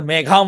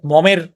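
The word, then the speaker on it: Maugham: মজার উইলিয়াম সোমারসেট মম এটা মেঘাম বা মম এভাবে বলে এটা হচ্ছে গিয়ে উইলিয়াম সোমারসেট মম উচ্চারণ হবে তো এই মমের এর বিখ্যাত কাহিনী হচ্ছে দা লাঞ্চন।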